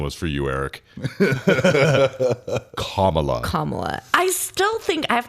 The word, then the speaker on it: Kamala: That's that pronunciation was for you, Eric. Kamala.